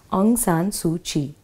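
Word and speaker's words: Aung San Suu Kyi: Aung San su Qi let's concentrate on the pronunciation of this writer's name on San su Qi the first name is a UNG on pronounced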